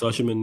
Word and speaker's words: Osimhen: I don't know if people pronounce it different, innit? Nah, it's Osimhen.